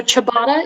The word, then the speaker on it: ciabatta: the information uh sure so ciabatta is the only pronunciation the noun from italian